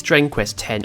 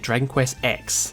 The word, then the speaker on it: Dragon Quest X: Dragon Quest frees video because I was pronouncing it Dragon Quest X so I'm making sure to pronounce it correctly now I will also say